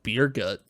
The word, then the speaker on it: Burgett: Apparently that character's name is pronounced Beer Gut.